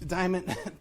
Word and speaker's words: Diamant: Diamant, thank you so. I got your name wrong.